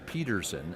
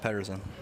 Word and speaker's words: Pettersson: okay you actually wanted the North American eyes pronunciation Peterson as opposed to Patterson but we we've settled on pettersen when you introduce yourself to someone now are you serious and the last end Patterson so you're go alright I don't like myself